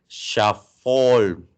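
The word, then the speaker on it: Schafhäutl: Bueno, la letra SCH se pronuncia como sh. Entonces sería Schaffol.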